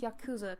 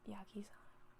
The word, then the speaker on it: yakuza: And I've said it wrong the entire time. It's Yakuza, correct? I'm gonna Google it later. I'll Google it later. I'm gonna say Yakiza. It's Yakuza. Yep, I'm gonna have to go back and record.